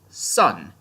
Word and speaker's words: SSSN: team s or as it's pronounced in the world of Ruby sun because unlike the giant panda vowels are still